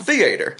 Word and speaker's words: theater: the The Boob Tube a southern thing is to put the ACC often is put the accent on the first syllable like theater Italian theater Italian example